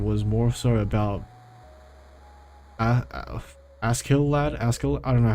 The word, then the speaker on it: Askeladd: was more so about Askeladd. I don't know how to say it in English. Askeladd. It's spelled Askeladd, but in the show they say Ashlad. But like with the Japanese pronunciation.